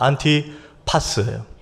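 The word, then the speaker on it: Antipas: 오늘 안디바예요.이 안디바가 원어로 발음하면 이렇습니다. 안티파스예요.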